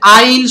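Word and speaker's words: aisle: হু ইজ লেং ইন আইল needs medical tension immediately আট নাম্বার এখানে দেখেন এইযে আইল শব্দের বানান আছে একটু চেঞ্জ আছে এই এসটা কিন্তু সাইলেন্ট থাকে এস লাগবে আই আই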